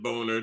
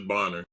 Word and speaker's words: Bonner: One, one N is Boner. Two N is Bonner.